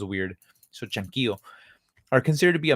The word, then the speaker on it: Chanquillo: I'm assuming this is pronounced like in Spanish, or else it'd be Chanquillo, and it just sounds weird. So Chanquillo are considered to be